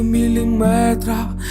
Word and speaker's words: міліметр: затушуй свою тінь до міліметра закричи і біжи свої В усіх словах які позначають міру довжини та мають частинку метр наголос падає саме на цю частинку міліметр дециметр сантиметр СМИ великої години зпошеж